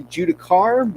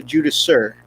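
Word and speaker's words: Judiciar: So I found out watching the live stream today, I've been calling this guy a Judicar, but apparently it's a Judasur. It's a soft C at the end, so it's a Judasur.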